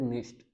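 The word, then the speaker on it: nicht: जैसे इश, जैसे इश, खुश, ओइश या फिर निश्ट।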